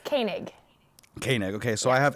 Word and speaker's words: Koenig: common theme I like asking people how to pronounce their last names yeah go ahead it's Koenig okay okay so I have here from fresh shape media Denver's very own